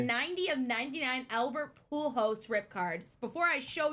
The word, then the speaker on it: Pujols: How do you pronounce that? Pujols. Pujols?